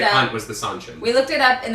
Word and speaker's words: Seanchan: Total aside, but Seanchan equals Seanchan. Rhymes with Lon Ann.